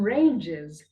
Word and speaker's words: ranges: The plural form of mountain range is mountain ranges. Mountain ranges. Mountain ranges. The S over here is pronounced as Z.